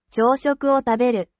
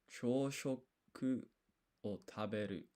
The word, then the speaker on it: 朝食を食べる: This is written as wo but pronounced o. So this is o taberu. Taberu is eat, right? So this is ryo shoku o taberu. 朝食を食べる、朝食を食べる.